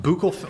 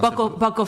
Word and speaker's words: buccal: Hold on, buccal. I don't know how to pronounce buckle fat removal.